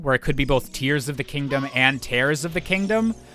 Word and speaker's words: Tears of the Kingdom: companies to confirm that the English pronunciation is intended to be Tears of the Kingdom. And I believe before that, people had figured out through how the Japanese was translated that it was also the tears, like literal, like, crying tears.